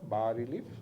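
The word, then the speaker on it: bas-relief: এস উচ্চারণ হবে না, বা রিলিফ মানে লো রিলিফ।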